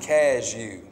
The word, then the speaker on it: Cazayoux: jury child so criminals learned his name Don casu when he expanded Early Education in the legislature